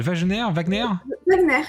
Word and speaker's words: Wagner: Donc on va faire un épisode lundi à 20h30 de Rue de la Révolution avec Albin, alors je dis Wagner mais je prononce peut-être mal, Wagner, je confirme.